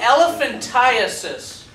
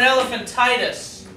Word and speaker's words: elephantiasis: a round worm it's caught listen it's called elephantiasis and a lot of people mispronounce it they call it elephantitis comes from a little round worm that gets